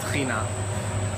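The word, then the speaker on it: טחינה: Well, here in Israel, one of the places where it started, it's called tchina. So tahini is the American pronunciation, but in Israel, in Hebrew, we pronounce it tchina. Tchina is nothing more than ground sesame paste.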